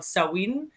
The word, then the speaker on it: Samhain: Okay, because it's spelled Samhain, but its pronunciation varies place to place.